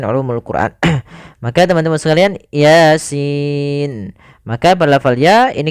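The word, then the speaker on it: يس: nah ini cara membacanya Jangan dibaca dengan Yasa ya ini termasuk salah satu cara membacanya adal dengan huruf-huruf muqatah huruf-huruf yang diputuskan maka kita bacanya Yasin itu sesuai dengan hurufnya kalau ya ya Sin berarti dia huruf Sin maka pada lafal Sin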